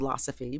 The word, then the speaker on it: Losophy: It's called Losophy, pronounced like philosophy.